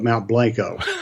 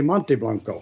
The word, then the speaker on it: Mount Blanco: Well, we anglicize it here because, everybody's a redneck, so we call it Mount Blanco. Okay. Even the Mexicans say Mount Blanco. Mount Blanco. Otherwise, we have to say Monte Blanco.